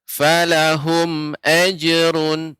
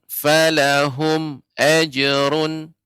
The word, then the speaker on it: فلهم أجر: Jadi untuk pengucapan falahum ajrun, hum mim mati bertemu dengan alif, ini namanya izhar syafawi. Tadi Bapak bacanya lebih panjang. Falahum ajrun. Yang benar falahum ajrun, falahum ajrun.